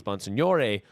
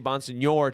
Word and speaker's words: Bonsignore: with Miles Bonsignore, and they would say it in the classic Italian way. And so then people started knowing me as Miles Bonsignore, which is how it is supposed to be pronounced, but I would always say Bonsignore to make it easier for people, but they were saying how it actually was.